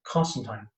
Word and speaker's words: Constantine: ever in that continent to call constantine properly and that pronunciation is constant time more you know so